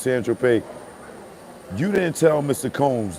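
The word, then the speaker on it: Saint-Tropez: When you brought that A ball of cocaine in San Tropez, pronounced San Tropez, you didn't tell Mr.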